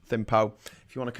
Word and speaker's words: Thimphu: The capital is called Thimphu. I think people want to say Thimphu, but I think it's pronounced Thimphu.